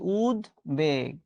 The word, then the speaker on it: উদ্বেগ: এত উদ্বেগ কেন তোমার আমি বলছি লিখছি এটা উচ্চারণ কি উবেগ উদ্বাস্তু শব্দটা খুবই গুরুত্বপূর্ণ পরীক্ষায় অনেকবার এসেছে উদ